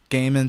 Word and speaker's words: Goeman: As of right now, it's just my name, Goeman, spelled Goeman. My last name is of like Dutch German descent, so that OE makes that A sound.